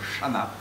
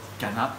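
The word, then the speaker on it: Channa: Cana beaucoup de gens ont plutôt l'habitude d'entendre le terme Chana mais le la terminaison vient du grec le le CH est une est une dérivation du cas en grec donc la prononciation logique comme on l'entend dans cyclidé et non pas cyidé et bien ce serait Cana voilà je sais que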